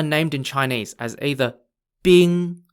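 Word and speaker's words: 兵: the pieces are named in chinese as either bing spelt b-i-n-g if you're on the red side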